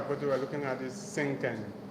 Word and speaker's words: cinquain: the next I put we're looking at is sinken it's what sinken okay so you write that down pleas write it down sink all right the s spell c i n